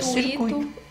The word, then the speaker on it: circuito: E é circuito.